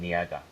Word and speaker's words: Ngaha: Not Niaga. Niaga. That's gonna be. That's how we pronounce his name, Niaga.